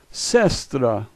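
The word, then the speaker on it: сестра: master the Russian letters the first letter s second letter yeah third letter s fourth letter Tia what looks like a P is an R sound and a is a so this is sestra sestra the first letter M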